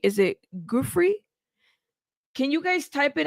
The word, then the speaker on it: Giuffre: See, some of you guys say Giuffre, Jeff Ray. See, those are two different pronunciations. Giuffre is correct, not Jeffrey.